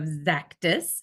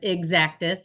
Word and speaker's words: Xactus: everyone has heard of zactis and it is pronounced like Z zus with a z so think about Cactus with a z zus we hear a lot of exactus and for those of